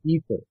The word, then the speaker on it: aether: Yeah, ether. Ether. It's spelled in two different ways, E-T-H-E-R or A-E-T-H-E-R.